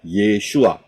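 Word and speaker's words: ישוע: paling kiri adalah Ayin Yod Shin W Ayin itu bacanya yesua Ya kalau saudara lihat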